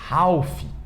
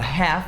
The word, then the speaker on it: half: Muita gente fala half, half, mas não é half, nem health, é half, half. A mesma pronúncia de calf, é a mesma lógica, half e calf.